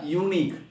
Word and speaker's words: unique: Yeah, unique. In the word unique, though letter is U, sound is a Y in yet.